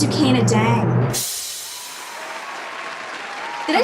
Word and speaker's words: Dieng: artist and a stunning creative mind it's zucaina dang did i say the last name right it's pronounced jay but you know i should have asked you